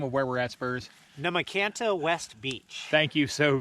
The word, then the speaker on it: Nahmakanta: how do you say the name of where we're at spurs namakanta west beach thank you so very very much